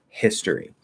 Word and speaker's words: history: So if you have the word history, which the H is pronounced even in British English, history, I'm pretty sure British people say this.